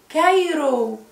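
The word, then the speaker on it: Cairo: كايرو. كايرو سي اتنطقت ايه؟ كي صح؟ عشان ما وراهاش ايه؟ برافو عليكم. ما وراهاش ولا اي ولا اي ولا واي فنطقناها كي.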